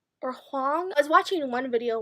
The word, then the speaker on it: Hoang: kiss quotient by Helen Hoang or Hong I was watching one video where this book was mentioned and the person pronounced her last name is Wong I think so I think it's Helen Wong I'm not sure I